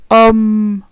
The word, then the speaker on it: homme: Attention, quand il y a un doublement de la consonne m ou n, on n'a pas la même prononciation. On n'a pas le son on. Par exemple, gomme, homme. On n'a pas le son on, mais plutôt homme, homme.